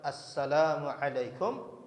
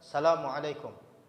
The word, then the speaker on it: Assalamualaikum: ia ia dapatkan jadi kalimat Assalamualaikum itu harus betul-betul diucapkan dengan huruf yang benar ada tasydid as as bukan Asalamualaikum jadi mudah-mudahan bisa bisa dipahami